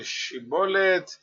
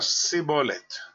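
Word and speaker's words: שיבולת: no podía hablar correctamente Parece ser que los efra tias no podían pronunciar el sonido sh Y en lugar de decir shibolet le salía sibol la palabra shibolet significa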